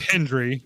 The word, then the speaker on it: Hendry: say his name and he say his name right. It's Hendry.